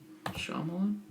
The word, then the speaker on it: Shyamalan: How do you pronounce his name? M. Night Shyamalan? Shyamalan. It's Shyamalan.